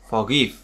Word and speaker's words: forgive: Trọng âm thường rơi vào âm tiết thứ hai đối với phần động từ hai âm tiết.